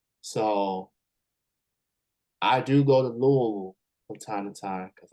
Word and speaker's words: Louisville: regard so they refer it to as they pronounce it as Louisville yeah so but I was out in Lexington which is an hour and a half drive so I do go to Louisville from time to time because I got friends